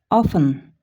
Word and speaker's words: often: Often, often. Көп учурда. T көп учурда айтылбайт.